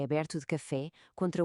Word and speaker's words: café: Pensem em café. A primeira sílaba K é normal. A segunda fé. O assento obriga-nos a abrir a boca e a dar-lhe ênfase.